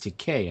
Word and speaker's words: Takei: came out I think he corrected everybody and said it's teay I guess that's the way they pronounce it in Japan and now there's like